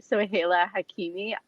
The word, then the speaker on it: Soheila Hakimi: it's hilarious when i see people try to pronounce my name i know it's a really really tough one it's actually so haila hakimi literally every time i go to starbucks though